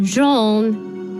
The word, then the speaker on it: Jean: It's pronounced Jean. He was killed by a boar on a hunting trip.